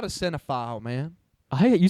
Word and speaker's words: cinephile: I'm not a cinephile, man. You say cinephile like pedophile, and I hate that.